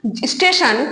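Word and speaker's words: station: এবং সেই যে উচ্চারণ রীতিগুলো, সেগুলো অনেকাংশেই বিকৃত এবং ভুল, তো সেগুলোকেই বলা হয় অপভাষা। যেমন স্টেশন, যে কথাটা আমরা বলি, একটা ইংরেজি শব্দ স্টেশন,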